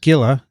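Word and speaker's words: Scylla: links in greek mythology cilla actually pronounced skilla the monster that lived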